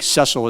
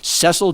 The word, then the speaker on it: Cecil: I think Cecil is how to correctly pronounce the name.